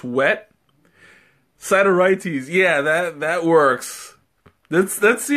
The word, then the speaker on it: Sideritis: I forgot how you pronounced it. Sideritis or side? No, Sideritis.